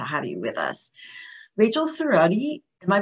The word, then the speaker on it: Cerrotti: so grateful to have you with us rachel cerrodi am i pronouncing that correctly yes yes is an award-winning